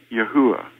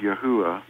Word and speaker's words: Yahweh: would actually tell you that the name is pronounced Yahweh he knows this because they know their language